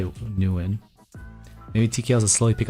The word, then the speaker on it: Nguyen: Nguyen is pronounced like bang without the B, then win.